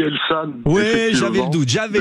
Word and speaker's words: Elsan: à côté vers Carcassonne je prononce bien elsan cher Pascal de Lubac oui bonjour On dit elsan ou j'avais le doute